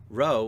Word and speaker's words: rho: For example, rho looks like P but is pronounced R.